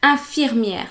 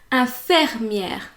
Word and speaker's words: infirmière: Infirmière, so that's the right way of pronouncing it. But a lot of people pronounce it infirmière.